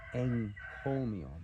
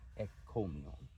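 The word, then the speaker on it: ἐγκώμιον: Again, a work of praise, but the point here is that it's enkomion, not ekkomion.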